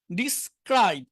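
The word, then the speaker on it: describe: ডিসক্রাইব, এখানে স্বাভাবিকভাবে সি এর উচ্চারণ খ হয়, মানে এখানে যদি এতটুক থাকতো তাহলে উচ্চারণ ক্রাইব, ক্রাইব খ দিয়ে, কিন্তু এস এর পরে আসলে এটা আবার ক হয়ে যায়। ডিসক্রাইব, ক্রাইব বাংলায় ক।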